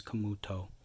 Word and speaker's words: Camuto: its offense Camuto Camuto let me pronounce the T properly Vince Camuto wonderful print quality and